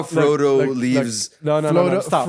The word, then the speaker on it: Frodo: No, you know how Frodo look, leaves. No, Frodo- stop. Frodo. Stop. Frodo. I think Frodo. Hold on. No. Hold on. He just called him Flodo. No, Frodo.